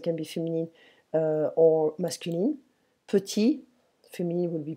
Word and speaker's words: petit: So prononciation, petit, petite.